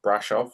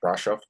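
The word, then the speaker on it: Brașov: town I think was Brasov or Brasov. I think it's pronounced Brasov, but It looked the like a rink big was barn.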